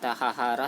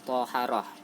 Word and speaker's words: thaharah: Tulisannya taharah, tapi bacanya toharah.